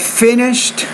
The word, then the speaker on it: finished: pan and after I've finished sometimes with your grammatical word endings for example in that case finished the IDI is a T sound finished and then started you